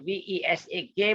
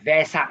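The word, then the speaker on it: Vesak: only although i like v-e-s-a-k but i will pronounce as happy vesa not versa you know but some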